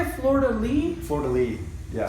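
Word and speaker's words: fleur-de-lis: say it Florida Lee Florida Lee yeah so it's not Leaf it's a lee yeah it's Lee yeah I always say Leaf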